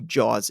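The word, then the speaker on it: Jauz: know if you know who jaws is but it's it's spelled j-a-u-z never heard of him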